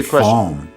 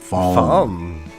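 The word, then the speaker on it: Falme: I say Falm. Falm. Okay. Yeah. Okay. Silent E.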